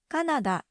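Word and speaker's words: カナダ: Canada so we say Canada in Japanese it's Canada Canada this word is a great opportunity to point out the consistencies in Japanese pronunciation the English spelling has three A's c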